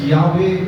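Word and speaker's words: Yahweh: அதற்காக 2 vowels add பண்ணி YHWH யாவே என்ற வார்த்தையை ஆட் பண்றாங்க.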